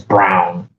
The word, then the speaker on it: Braun: Yeah, like the guy on the Nuggets whose last name is Braun, but he says it's Brown.